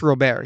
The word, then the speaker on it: Robert: Robert who um also it's not Robert it's Luis Robert he's freaking he's Dominican or Cuban um so that's mispronouncing everyone's mispronouncing it um but I I've